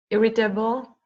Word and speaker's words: irritable: Now it's not table. Be careful. It looks like table, but it's actually pronounced table. Mhm. Table. Table. Irritable.